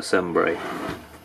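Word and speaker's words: Cembre: So in this case, this crimper is a Sembre. That's how you say it, pronounce it.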